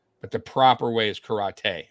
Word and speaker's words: karate: Is it karate or karate? Karate is honestly right, but so karate is more for like Americans, how we say it, but the proper way is karate, right?